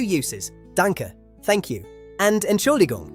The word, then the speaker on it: Entschuldigung: And Entschuldigung. Yes, it's a long one. Ent schul di gung. Entschuldigung.